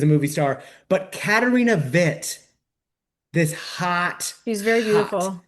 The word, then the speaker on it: Witt: lesbians talking about Katarina Witt. And listeners, if you're having trouble Googling, that's because I'm trying to use the Germanic pronunciation. It is Witt for Katarina.